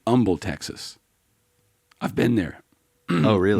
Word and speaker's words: Humble: where else Humble Texas it's actually Humble Texas I've been there no